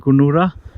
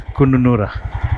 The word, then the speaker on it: Kununurra: I think everyone was saying Kununurra. The way I'm reading it is Kununurra, because that's how it is spelled.